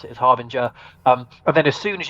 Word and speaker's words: Harbinger: Like, as long as they just made a huh sound at the start, I'm like, yeah, that's us.